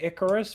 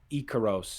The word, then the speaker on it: Ikaros: But the manga specifically uses all of the Greek spellings and pronunciations for it. Mm-hmm. Like it is said Ikaros in Greek, and I have Greek